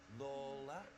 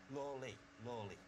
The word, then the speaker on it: Lawley: George Lawler or Lawley? Lawley. Richard, it's Lawley.